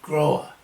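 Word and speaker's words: འགྲོ་བ: dependent arising, it's going, very literal, droa, which really in Tibetan is groa, or groa. Going. Groa, or droa, pronounced droa nowadays, or groa.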